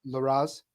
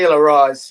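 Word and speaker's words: Larraz: him was Pepe Pepe I always say the name wrong LaRose Pepe laroz yeah I thought that would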